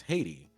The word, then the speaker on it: Haiti: And then like English speakers just like, oh, okay, that's a diphthong. That's Haiti. And I was like, okay, fine. Fine. Uh but yeah, that's like why it's pronounced that way in English.